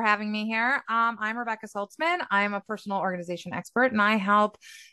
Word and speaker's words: Saltzman: So, Rebekah Saltzman, is that how you pronounce it? Saltzman? Saltzman, Yeah. yeah.